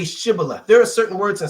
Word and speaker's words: Shibboleth: Then said they unto him, "Say now Shibboleth." And he said, "Sibboleth." For he could not frame to pronounce it right.